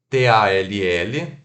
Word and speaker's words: tall: T-A-L-L, tal, né, que significa alto ou alta, se pronuncia T-O-L, tall.